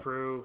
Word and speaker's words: St. Preux: Preux, if you want to be phonetically correct. Preux.